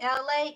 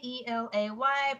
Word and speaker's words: Elay: It's me, Elay, Elay, pronounced like LA, like I'm not from there, but I'm breezy.